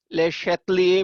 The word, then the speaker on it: Le Chatelier: apply किया जाता है ले शयर प्रिंसिपल इसे हम बोल रहे होते हैं ले लिए या लेयर जो भी आप प्रोनाउंस जैसे भी करना चाहो जो उसका इनकी अपनी लैंग्वेज में प्रोनाउंस है ले शेतल बोला जाता है इसे प्रोनाउंस किया जाता है तो यानी ले शलिस